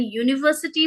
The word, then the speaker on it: university: She bought an university book. No, it should be she bought a university book. University starts with the year sound.